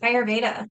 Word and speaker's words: Ayurveda: work and you're going into, remind me the pronunciation, but the healing. But Ayurveda.